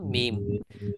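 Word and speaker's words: ميم: এখন এটার নাম মিম। মিমটা কোথা থেকে উচ্চারণ হয়? দুই ঠোঁট থেকে।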